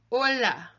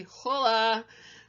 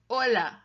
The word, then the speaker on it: hola: agent Spanish is silent we don't hear it it's a classic Anglophone mistake to say hola but it should be Ola Ola Ola so it's